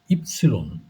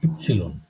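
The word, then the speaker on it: Ypsilon: আর এরপরে হচ্ছে ইপসিলন। আপনারা এটাকে ওয়াই বলেন, এটাকে জার্মানে বলে ইপসিলন।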